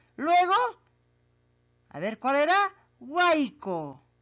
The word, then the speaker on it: huaico: Ahí está, huaico. Así se pronuncia, pues, niños.